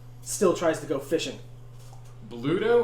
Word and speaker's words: Bluto: Bluto or Pluto? Bluto. the town. Pluto, but with a B instead of a P.